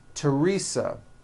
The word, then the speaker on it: Teresa: Although these next words and names are spelled with a TH, they are pronounced as if they were spelled with a normal T, like that. And these words are Thomas, Thompson, Teresa, Thailand, Thames, like the river, Esther, and thyme, which is a spice.